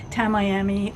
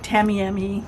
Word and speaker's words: Tamiami: I had planned on going to the Tamiami or Tamiami depends on where you live in Florida how you pronounce it and I had planned